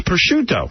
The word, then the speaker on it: prosciutto: Gary comes in and goes, prosciutto. It's not prosciutto, right? Yeah, no. That's a little on the American side. It's prosciutto.